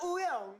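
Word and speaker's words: Wooyoung: I'm Woyoung.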